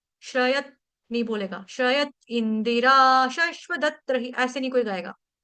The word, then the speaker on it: इन्दिरा: श्रयत इंदिरा शश्वदत्त ऐसे नहीं कोई गाएगा। तो कैसे गाएंगे? श्रयत इंदरा देखो इंदिरा के साथ भी द के साथ छोटी इ की मात्रा।